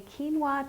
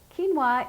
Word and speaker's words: quinoa: For lunch today, we're going to make a quinoa tabouli salad. Tabouli is traditionally made with bulgur wheat, which is a cracked wheat product, but we're going to use quinoa today. Quinoa is a grain grown in high altitudes.